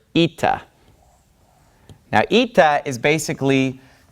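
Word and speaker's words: ήτα: a little bit further this letter is pronounced Ita so we have Zita and then we havea Zita Says Z Anda makes an e sound this is a vowel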